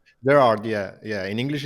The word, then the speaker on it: Gerard: cool how do people it's it's Gerard right Gerard yeah yeah in English it's Gerard in Spanish or in Catalan say ger and